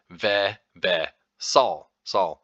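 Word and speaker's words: vesall: to the sa part the a is pronounced like the a in Father a a so and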